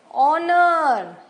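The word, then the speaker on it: honour: ड लेकिन डी है एच इनमें एच साइलेंस है ऑनर एच हमने नहीं बोला ऑन स्कूल देखा एच है एच नहीं बोला गया नाउ इन वर्ड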